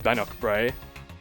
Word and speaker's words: Bannochbrae: there you go successful drive with AI around bannockbrae that is how you pronounce it um look as I said no